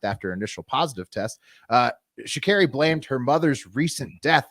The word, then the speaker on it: Sha'Carri: Yeah, I think it's Sha'Carri. I'd looked up the pronunciation.